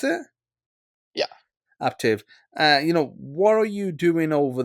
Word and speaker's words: Aptiv: Right now, you're working at a company called Aptiv. Is that how you pronounce it? Yeah, Aptiv.